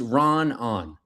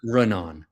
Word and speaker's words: Raanan: He said it's Raanan, not Raanan. Raanan. That's a hard one.